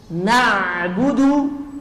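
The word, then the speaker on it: نعبد: menyembah sinar matahari dyams artinya nabudu na ini tetap tipis Na bukan na'budu na tapi na nabudu Alin ini tawassut tawassut itu mengalir sedikit sedikit sekali nabudu nabudu nabudu na'budu kemudian karena ini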